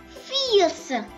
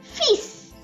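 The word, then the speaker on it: fils: say you lou we don't say fears but we say fis so it became lu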